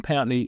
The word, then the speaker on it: Pountney: I'm just happy you pronounced my surname correctly. Well, I'm very That's a good start. I don't think people pronounce it other than that. Get a lot of pney pony which makes all the kids laugh.